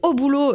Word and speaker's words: Au boulot: Et maintenant, on va parler d'un documentaire qui s'appelle Au boulot, je le prononce comme ça parce qu'il y a un point d'exclamation, co-réalisé par François Ruffin et Gilles Perret.